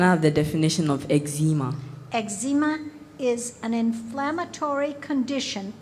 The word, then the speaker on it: eczema: speller 76 please spell eczema eczema also pronounced eczema eczema please can i have the definition of eczema eczema is an inflammatory